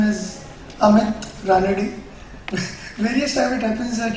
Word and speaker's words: Ranade: Being in Maharashtra, my name is Amit Ranade. Various times it happens that it has been pronounced as with various different names.